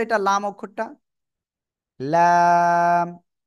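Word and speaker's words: لام: তো এটা লাম অক্ষরটা লাম জিহ্বার আগার কিনারা তার বরাবর উপরে কিসের সাথে লাগবে জিহ্বার আগার কিনারা উপরে মাটির দাঁতের গোড়ার সাথে লাগিয়ে উচ্চারণ করতে হবে লাম হ্যাঁ আমি মনে করি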